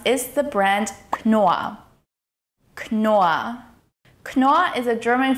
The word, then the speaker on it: Knorr: Knorr is pronounced with the hard K sound, followed by a long O sound and two R sounds, which are actually silent Rs.